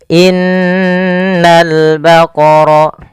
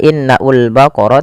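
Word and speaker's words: إِنَّ الْبَقَرَ: dua harakat baru dilepas Innal baqor pada alif lam di sini lamnya ditampakkan dengan jelas ini bukan innaul baqar tapi langsung ke lam alifnya dianggap tidak ada langsung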